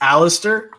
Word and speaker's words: Alistair: It's Alistair. So I know it's the stare throws everyone off.